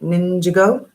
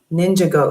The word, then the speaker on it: Ninjago: chat room if you ninja that's how i say it ninja ninja go ninja go is how you say it oh my bad my